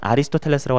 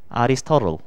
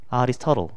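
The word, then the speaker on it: Aristotle: 그 다음은 아리스토텔레스라고 하지 않고 아리스토틀. 아리스토틀. 이렇게 한단 말이야.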